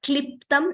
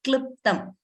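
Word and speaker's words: क्लृप्तम्: So it is not kliptam, it is not kluptam also. It is neither e nor u. It is in between, kliptam.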